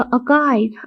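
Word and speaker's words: archive: [नाक से की जाने वाली आवाज़] ऑलराइट नेक्स्ट हमारा वोकैबलरी होगा अकाइव। आर यहां पे साइलेंट होता है अकाइव।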